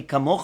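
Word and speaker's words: כמוכה: In the second one, it's going to be Mi Kamocha, it's a kaf with a dagesh, and it's pronounced with the sound of K.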